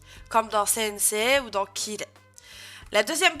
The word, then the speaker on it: sensei: Soit, de manière générale, on va rajouter un I après une syllabe en E pour l'allonger. C'est le cas notamment du mot sensei, hein, que vous connaissez presque tous, je pense. Sensei, on dit pas sensei, on dit sensei.